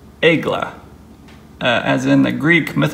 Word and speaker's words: Aegle: a little bit there it is it is pronounced egg LA as in the Greek myth alone mythological goddess